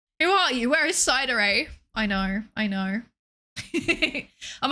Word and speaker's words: Psydere: If you put in chat, which is the incorre incorrect pronunciation of my name, it's cider like sundere or dere or yandere if you are that way inclined.